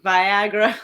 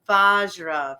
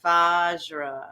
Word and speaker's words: Vajra: mean it's we get we get the gamut we get like Viagra almost like VI like come on dude there's no eye there there's no I vagina and and there's no n in it no no we get Bara so little bit of like I don't know mixing up the letters and then V vajar it's vajra vajra and it's pronounced as